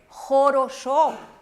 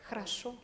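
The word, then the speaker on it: хорошо: Aquí dice jorosho, pero en ruso es hrasho. Ahora usted lo dice harasho, pero existe un fenómeno que se llama reducción silábica, que mientras más alejada esté la vocal de la sílaba tónica acentuada, el sonido disminuye. Entonces la O se pronuncia como una A, pero no una A latina, A. Es una A cerrada.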